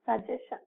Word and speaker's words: suggestion: So it is not suggestion. Okay, it is not suggestion. We should pronounce it as suggestion. Suggestion. So here the stress is again on the S before T.